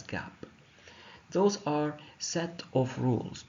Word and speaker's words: GAAP: of all we have Gap gaap pronounced as Gap those are set of